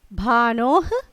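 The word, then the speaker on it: भानोः: Bhanoh, since Visarg is there, we have to pronounce like this.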